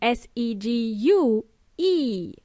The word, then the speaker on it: segue: w a y but it's actually an Italian word with the Italian spelling of s e g u e pronounced segue for many English speakers